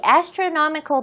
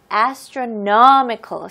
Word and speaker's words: astronomical: 이 astronomical 발음이 조금 어려울 수도 있어요. astronomical. 스트레스가 이 no 부분에 넣으셔야 됩니다.